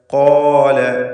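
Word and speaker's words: قال: ഖാല. ഈ പദത്തിൽ ഖാഫിന് തഫ്ഖീം കൊടുക്കണം.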